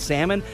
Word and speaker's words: salmon: a silent letters quiz like you know the L is silent and salmon so first question goes